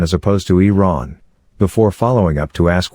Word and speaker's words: Iran: for mispronouncing the name of his country Adams pronounced it Iran as opposed to Iran before following up to ask whether as a